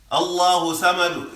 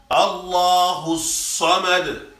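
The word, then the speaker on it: ٱللَّهُ ٱلصَّمَدُ: If you read it light, Allahu samad is wrong. It sounds like you saying sin as this. Allahu samad. Allahu samad.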